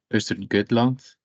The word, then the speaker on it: Östergötland: This webinar will be given by Erik Gabrielsson from Sectra, Joel Pettersson from Region Östergötland. I pronounced it right, yeah.